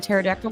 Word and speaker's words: pterodactyl: you can't hear a pterodactyl going to the bathroom oh because they're extinct well that is answer but the correct answer I'm looking for is because the p is silent okay that's good I